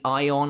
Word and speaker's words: Ayon: whole spanish theme i believe that should actually be ion i think that's pronounced correctly and future releases future translations do have it spelled as a y-o-n so i think that is how you pronounce it but ion arrives